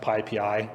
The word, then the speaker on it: PyPI: package index uh importantly it's pronounced pii that's not p p or pip or anything it's pii I will correct you if you if you say pppi to me uh most people